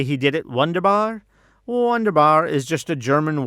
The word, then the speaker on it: wunderbar: I'm guessing the songwriter was just trying to make sure it could rhyme with Tsar. Instead of saying wonderful, they said wunderbar because it rhymes with Tsar.